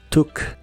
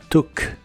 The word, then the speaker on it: took: el verbo en pasado se pronuncia con una u corta tu tu el verbo tu en